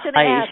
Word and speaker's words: Haisch: I just want to actually correct you on the pronunciation of his last name. It's Haisch.